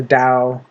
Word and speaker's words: Tao: And I can definitely see why CS Lewis endorses the taq ching or mention the dao uh tao because t is pronounced d in Chinese uh and so on.